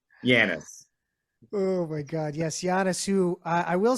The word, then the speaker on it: Giannis: On set, other cast members, the crew, the directors, nobody knew how to. There'd be Janice. Let's get Janice. Janus. Let's get him over. Nobody pronounced it right. Janus. Oh my God, yes, Giannis.